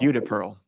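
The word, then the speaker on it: Judea Pearl: book of why uh by how do you pronounce his name UD Pearl UDA Pearl thank you so this is from I think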